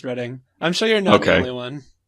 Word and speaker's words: Reading: of London oh I always read it as reading smell that way or no yeah it's spelled like reading but it's pronounced reading I'm sure you're no Carolyn so one I